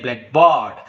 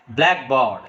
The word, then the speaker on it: blackboard: You cannot say blackboard. So the correct pronunciation is blackboard. The first part of the word is spoken with force.